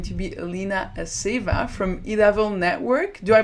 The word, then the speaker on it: Idavoll: So our first speaker is going to be Alina Aseeva from Idavoll network. Do I pronounce this right, Alina? Idavoll network, yeah, more or less. Not French variant, but Scandinavian.